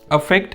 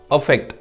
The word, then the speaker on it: affect: Let's look at the next pair of words we have is affect and effect. First, notice the pronunciation. Okay, the word with letter A is pronounced as affect, so it has sound of a.